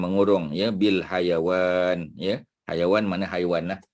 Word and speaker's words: hayawan: Hayawan mana haiwan lah. Kita Melayu panggil haiwan, Arab panggil hayawan, ya, bukan hai tapi hayawan, iaitu ejaan dia, ha ya waw alif nun, ya.